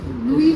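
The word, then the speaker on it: Louis: सर थोड़ा pronunciation लुई होता LEWIS हम लोग लुइस बोलते हैं LOUI ये लुई फिशर होना चाहिए नहीं हाँ, वही मैंने पूछा था हाँ, क्वेश्चन।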